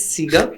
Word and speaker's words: CEGA: सो इट्स सीगा, फीगा, CEGA।